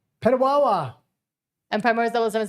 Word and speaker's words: Petawawa: Mike Freedom Money says, guys, pronouncing it right. Petawawa. Petawawa.